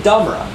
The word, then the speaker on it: domra: Not called a guitar, it's a domra, right?